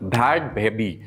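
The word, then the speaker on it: Bhad Bhabie: Many of many नाम की website के मुताबिक अमेरिकन रैपर भैड बेबी, यही उनका नाम का प्रोनाउंसिएशन है, असली नाम नहीं है उनका, ये स्क्रीन नेम है, भैड बेबी सबसे ज़्यादा पैसे कमाने वाली क्रिएटर बनी।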